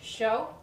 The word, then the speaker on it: chaud: 2 words in French, chaud, which means hot. And it's spelled D. C-H-A-U-D. But I didn't know you don't pronounce that chaud D.